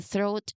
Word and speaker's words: throat: So, mastering this pronunciation um especially uh the tricky sound at the beginning, it is a great way to improve your English.